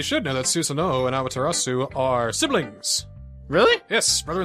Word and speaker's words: Amaterasu: Is that how you pronounce it? Amaterasu? Amaterasu, yes.